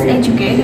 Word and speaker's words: educate: Like the words educate, we have 3 syllables. The stress occurs on the first syllable. Like educate, the syllables in the stress is on the first, the word educate.